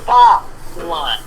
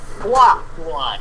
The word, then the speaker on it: Fa Mulan: And number two, hello, her name is Fa Mulan, not Hua Mulan. That is a wonder if I saw that they changed her name. Yeah. Oh my god, really? It's Fa Mulan.